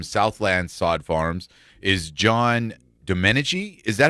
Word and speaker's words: Domenici: this morning from Southland Sod Farms is John domeni is that how you say your last name